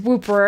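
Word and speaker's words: Wooper: Sorry, I He's not Whopper, he's Whooper, I'm pretty sure is how you say it.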